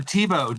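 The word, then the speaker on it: Tebow: say your last name just like uh TBO think Tim TBO the football player just thinks smarter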